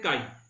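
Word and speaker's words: χ: बेटा, इसको सिंबल है, इसको प्रोनाउंस करते हैं काई, काई एप्सिलॉन ई अपॉन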